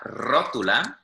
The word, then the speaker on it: rótula: So la rótula, with again an accent on the O, is one of them.